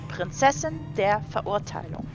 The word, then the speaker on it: Prinzessin der Verurteilung: Again, the German pronunciation would be Prinzessin der Verurteilung.